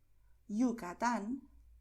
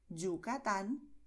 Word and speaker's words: Yucatán: El primero es pronunciar con el sonido de la vocal I, es decir, Llanes, Villa, Yucatán, Cayo.